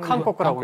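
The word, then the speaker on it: 韓国: 지금은 칸코쿠라고 읽죠.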